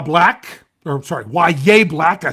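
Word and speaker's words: Yahya: Uh um Ya Black or sorry, Yaya Black.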